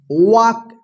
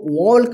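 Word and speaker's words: walk: तो इसको क्या पढ़ेंगे वक वक पढ़ेंगे ठीक है ना वक इस तरह से रहता है इसका हिंदी वक ठीक है वक ठीक है ना वक इसको वलक मत पढ़िए वलक ठीक है ना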